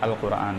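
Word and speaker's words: القرآن: है रूफ कमरी है तो लाम क्या होगा प्रोनाउंस किया जाएगा अल कुरान ठीक है तो इसका सही प्रोनंसिएशन अल कुरान हो जाएगा आसान सा मामला ठीक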